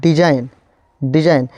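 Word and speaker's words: design: देखिए लोग यहाँ पे जी, अगर एन से पहले जी आए, एन से पहले जी आए तो जी साइलेंट हो जाएगा। जैसे यहाँ पे डिजाइन पढ़ाया है, डिजाइन यहाँ पे जी नहीं पढ़ाया है, यहाँ पे SI ज पढ़ाया है।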